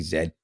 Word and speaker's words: zed: of course we say in Canada we say Zed simply because we do speak closer to what would be the queen's English right uh actual British English except without the accent we spell our words the same way we pronounce things for the most part the same way without the English accent so Zed is how it said so that's why when